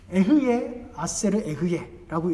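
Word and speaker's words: אהיה אשר אהיה: 다음 보시면 이 스스로 있는 자라는 뜻은 에흐예 아세르 에흐예라고 읽습니다.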